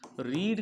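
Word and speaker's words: read: फिर हैड यू, रीड का third form रेड, spelling same रहेगी बस उसको पढ़ेंगे रेड।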